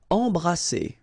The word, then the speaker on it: embrasser: Alright, E-M here, and then you've got a consonant after, so you get the nasal en. So you don't hear any M, it's really in your nose. Embrasser. Alright, and then double S here, it's S. Embrasser.